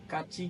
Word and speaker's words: Kachi: इसको pronounce कैसे करते हैं? काची किचन. अच्छा काची, मैं इसको कच्ची कच्ची कहती थी.